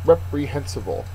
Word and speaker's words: reprehensible: Number 14, reprehensible. And reprehensible is an adjective. Third syllable is accented.